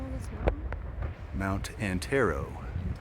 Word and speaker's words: Antero: Mount Antero. Antero.